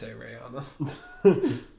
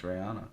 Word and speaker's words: Rihanna: it ain't no battleship Breanna well how do you say it Brianna that's how she says Rihanna it's Rihanna it's how it's spelled ryouta there's no y in there okay thank you